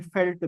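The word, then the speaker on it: veld: वेल्ड बोलते हैं, कहीं कहीं फेल्ट भी बोलते हैं, वी का प्रोनाउंसिएशन एफ भी कहीं कहीं हो जाता है। तो वेल्ट बोले या फेल्ट बोले, प्रोनाउंसिएशन के हिसाब से एक ही बात हमको यहाँ पर देखने को मिलेगी।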